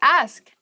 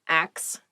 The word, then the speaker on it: ask: The next word is ask. Ask. Please pronounce this correctly. It is not axe. Many native speakers make this pronunciation mistake and it really bothers me.